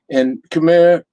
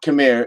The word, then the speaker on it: Khmer: So, and Khmer, it's not Khmer, it's pronounced Khmer. And so Khmer New Year, again, is April 14th through the 16th, 3-day celebration.